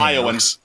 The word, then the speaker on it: Ioun: How do you pronounce that freaking name? Ioun.